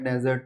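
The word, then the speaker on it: dessert: डेजर्ट में single S आता है, सिंगल एस आता है डेजर्ट में.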